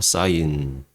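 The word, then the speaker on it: sin: 세타를 이렇게 씁니다 자 신이라고 읽지 않고 사인이라고 읽습니다 사인 코스라고 안 읽고 코사인 잠만요 코사인 그리고 탄이 아니고 탄젠트음 그래서이 직각이 여기 있다고 칠게요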